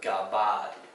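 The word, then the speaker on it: gabbai: It's interesting because it has that AI for the I sound. It's kind of like that sound at the end of the word where you're picking up that vowel, Gabai.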